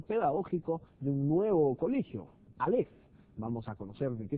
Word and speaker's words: Aleph: Este colegio Aleph, en realidad se pronuncia Aleph, que son las iniciales de Active Learning Philosophy, que de alguna manera